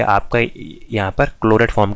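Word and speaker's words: Clairaut: हम बोलते हैं आपका क्लोरेट फॉर्म। ठीक है, ये है आपकी क्लोरेट फॉर्म। क्लोरेट की स्पेलिंग कार्लेट, क्लोरेट बोलते, कार्लेट कुछ ऐसी नाम है, क्लेरोट फॉर्म बोलेंगे ऐसे, क्लेरोट फॉर्म।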